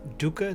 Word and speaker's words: Doeke: It's under my piano project Doeke, that's spelled D-O-E-K-E, and I hope you give it a listen.